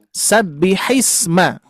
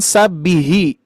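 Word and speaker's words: سَبِّحِ اسْمَ: Sabbihisma. Sabbihisma. Jangan sabbihi. Sabbihi tapi sabbihisma gitu ya.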